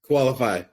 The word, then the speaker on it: Koalafi: Financing can be fun, especially when you have Craig Leffew with, how do you pronounce the name of your business, Craig? Koalafi.